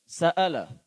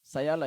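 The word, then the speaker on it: سَأَلَ: যেমন সাআলা, হামজাটা উচ্চারণ হয়নি, কেমন যেন ইয়া শোনা গিয়েছে। সায়ালা এরকম আওয়াজ আসছিল, যেটা অত্যন্ত দৃষ্টিকটু।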